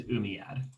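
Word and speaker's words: Umayyad: in here they're gonna be really hard to pronounce real so this one is umiyad uh the umiads moved their capital from medina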